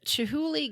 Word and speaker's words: Chihuly: The Chihuly Garden and Glass. Did I pronounce that right?